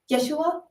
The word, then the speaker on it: Yeshua: way of pronouncing it that they would have pronounced it back in that time. How is it? Yeshua?